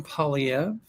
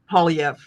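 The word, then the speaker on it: Poilievre: How do you pronounce his name? Polyv. Polyv.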